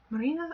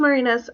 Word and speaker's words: Marinas: Marina? I call her Marina. It's Marinas. I'm sorry, Marinas. I got your name wrong.